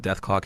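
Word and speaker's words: Dethklok: know what i uh the show name was created so that people would call it death clock anyway yes because there was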